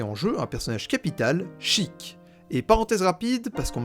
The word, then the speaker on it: Sheik: techniquement tort parce que c'est la prononciation la plus proche de l'original japonaise j'en appelle la synthèse vocale si c'est d'ailleurs la prononciation qu'ont adopté les anglophones en majorité et je soutiens sa malgré le fait que maintenant on est un annonceur francophone dans smash bros dans ce match 4 qu'il prononce cheick parce que non seulement